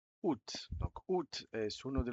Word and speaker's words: août: Y este agosto, hay una A al principio de agosto que está de adorno, no se pronuncia.